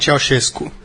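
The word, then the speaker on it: Ceaușescu: o início do governo do, por favor, a pronúncia? Nikolai Ceausescu.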